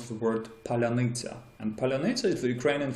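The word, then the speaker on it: паляниця: the fact that Russians can never can never pronounce the word palyanytsia.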